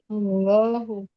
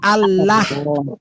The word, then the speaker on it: Allah: Allahu. Nah, kenapa enggak dibaca Allah? Karena dia lafaz Allah harus tebal.